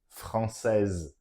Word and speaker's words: française: Et la réponse est, elle est française. That's right, with an E at the end. Okay, the E of feminine. Elle est française, which is going to affect the pronunciation.